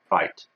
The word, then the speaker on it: Wright: لا تنسوا أن الW مع الR الW silent ما تلفظ right.